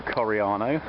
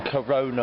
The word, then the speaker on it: Coriano: here in the beautiful italian village of coriano or if you're mike then corona ocarina or carino at no point has he managed to spell it or pronounce it correctly so you can see